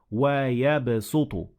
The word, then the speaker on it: وَيَبْسُطُ: So it is better to say وَيَبْسُطُ. So you pronounce the sin instead of the sad.